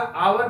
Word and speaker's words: hour: अब यहां पर भरना होगा कि ट्राई टू कम, यहां पर एच से शुरू हुआ, आवर बिफोर, तो एच यहां साइलेंट है इसलिए यहां पर एन लगेगा।